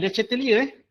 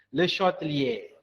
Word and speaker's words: Le Chatelier: Bukan Le Chatelier, the correct pronunciation should be Le Chatelier.